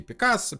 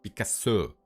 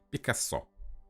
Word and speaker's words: Picasso: говорит: "Вообще-то, как бы у нас в Париже принято говорить Пикассо, потому что ударение в французском языке всегда падает на последний слог Пикассо".